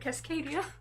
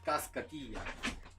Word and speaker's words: Cascadilla: I said Cascadia. I don't know. I'm very bad with usernames, unfortunately. It's Cascadilla.